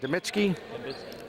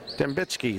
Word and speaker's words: Dembitsky: How do you pronounce it again? Demitsky? Dembitsky. Thank you.